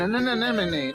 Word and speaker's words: anemone: It looks It's an anemone.